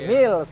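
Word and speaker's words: Mills: kan kita lokal ya betul meals bacanya Mils lokal nih soalnya Oke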